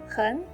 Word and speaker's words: 很: 很 is the original the third tone. It's followed by 好, which is also a third tone. So 很 changes into a second tone. It sounds like 很好。